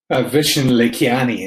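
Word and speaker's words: Vishen Lakhiani: him he was on a podcast with uh vishen le kiani is how he pronounces his name and and uh it's what's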